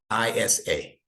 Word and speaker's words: Isa: the Quran no ASAP Isa see sounds like a sauce so the name in